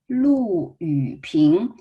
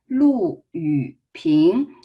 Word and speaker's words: Lu Yuping: One is Lu Yuping. So make sure Lu is a fourth tone. We learned that fourth tone is a falling tone.